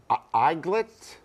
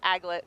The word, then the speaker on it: aglet: Eaglet? No. I always thought it was like a Doglet? dunkel or Oh, a something. dunkel? Mike's really close, but he's got the pronunciation off.